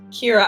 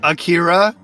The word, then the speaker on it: Kira: keep saying it wrong Kira I keep wanting to say every other thing but that Shir and then go thank you that'll help okay or Akira or Shakira but just not the Sha part Shakira